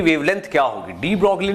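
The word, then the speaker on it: de Broglie: ठीक, तो इसके ऊपर डी ब्रॉगली जिसको डी ब्रॉय प्रोनाउंस किया जाता है, इन्होंने इसको एकदम क्लियरली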